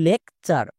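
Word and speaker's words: lecture: ভুল করছো কেন কারণ টি ইউ আর ই ওয়ার্ড প্যাটার্নটিকে অনেকে চিনতেই পারছো না উচ্চারণ করছো টুরে টুরে উচ্চারণ হবে না এর উচ্চারণ হবে চার যেমন এল এল এর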